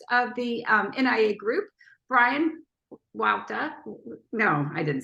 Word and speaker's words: Huayta: My last name is pronounced Huayta, so it'll be Bryan Huayta.